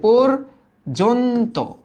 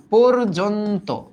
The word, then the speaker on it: পর্যন্ত: হ্যাঁ এই যে রেফ, কিছু কিছু ক্ষেত্রে রেফের আগে যদি একটা অধ্বনি থাকে তবে এই অ এর উচ্চারণ ও এর মতো হয়, তাহলে এটার উচ্চারণটা কিরকম আসবে? পোর, এই যে পর্যন্ত, পর্যন্ত, পর্যন্ত।